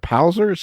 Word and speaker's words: Palzer's: Is it Palzer's? Is that how you say it? It's Palzer's. Like he's my best pal.